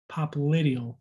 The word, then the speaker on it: popliteal: posterior knee though is pop lydial pop little pop lydial that's how you pronounce it popliteal emphasis on the eye the anterior side of